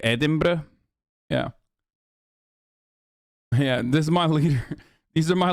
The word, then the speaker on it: Edinburgh: that you're the only American that can actually pronounce Scottish cities correctly Edinburgh yeah yeah this is my leader these are